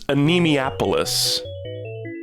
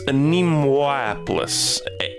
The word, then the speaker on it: Anemoiapolis: I thought it was Anemoiapolis. Like anemia, like losing blood. But it's Anemoiapolis. Anemoiapolis. That first O really gets me.